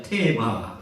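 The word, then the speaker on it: תבה: 수가 있습니다 게도 로 갈때 상자를 어떻게 우리가 발음하면 따라 답시다 태바 바 크게 따라 답시다 테바 태바 히브리어로이 갈대 상자를 태바라기 단어를 창세기 6장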